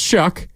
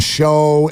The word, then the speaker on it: Shough: Spelled Shough, pronounced Shuck.